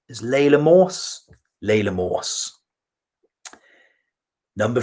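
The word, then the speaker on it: Laila Morse: It's Layla Morse. Is Layla Morse? Layla Morse.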